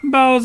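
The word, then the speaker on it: boughs: is in that context the spell b-o-u-g-h-s the gh is like silent like it's probably an irish word like the name monahan or something oh yes that's how we pronounce it bowels of holly daniel's right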